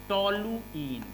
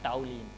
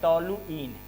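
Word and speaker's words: toluene: टोलुइन, सही pronunciation करिए, टोलुइन, नॉट टाउलिन। ठीक है, हमने देखा है ज़्यादातर स्टूडेंट्स टाउलिन बोलते हैं, नहीं ये होता है टोलुइन, ठीक है, टोलुइन हुआ।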